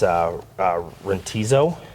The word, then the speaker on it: Rantizo: It's Rentizo, I believe is how you pronounce it.